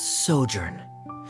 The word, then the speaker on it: sojourn: everything clear uh directors osimos how do you pronounce this word let me see Ah that's sojourn it means to stay for a while this